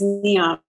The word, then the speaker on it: Niav: uh to write this story uh first it's neon sorry everyone has a difficult time pronouncing my name um uh so it it